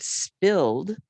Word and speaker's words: spilled: We have the t sound as in pushed, and we have the d sound when I have the word spilled. If I spilled, spilled, and I say d and I spell it with the ed, I spilled the juice.